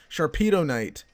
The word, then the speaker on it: Sharpedonite: how you get the Sharpedo white Sharpedo Knight Sharpedo KN I've been saying it wrong it's Sharpedo knight from Team Aqua if